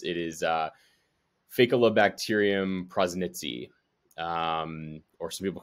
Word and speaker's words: Faecalibacterium prausnitzii: So first of all, as you can probably tell by now, it's a little bit difficult to pronounce. It is Faecalibacterium Prausnitzii, or some people call it F.